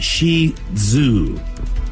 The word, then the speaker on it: Shih Tzu: the Shih Tzu how do you say that Shih Tzu it's Shi Zoo you think they'd be but more emphasize the